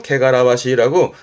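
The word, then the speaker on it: 汚らわしい: 게가라와시 요게 에원 때 보여지는데 발음 좀 어렵죠. 케가라와시라고 뭐랄까 더러운 내지는 추판 뭐 예를 들어서 뭐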